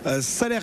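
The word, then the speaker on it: Salers: du headbook salaire et on dit bien salaire et non pas salaire son prononce pas le S bonjour François oui bonjour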